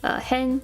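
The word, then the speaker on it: 変: Hen or ka.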